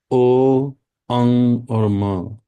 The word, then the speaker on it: ओम: ओम का उच्चारण करेंगे उच्चारण करने का तरीका है ओ अंग और म जब हम ओ बोलेंगे